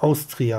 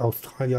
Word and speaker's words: Austria: It's Austria, I think. Yeah, it's not Australia. It's Austria, Österreich.